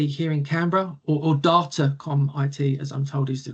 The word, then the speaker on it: Datacom IT: I'm business development manager for Datacom IT here in CRA or or Datacom IT as I'm told is the correct um pronunciation.